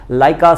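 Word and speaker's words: plica: लाइका starts with P, P silent, क्या आपको पता है ना कि पी के बाद अगर वाविल ना हो तो वो साइलेंट हो जाता है। तो इसका दी लाइका सर्वर, लोग इसको पिलाइका पढ़ते हैं, पिलाइका नहीं है, ये इंग्लिश की आपको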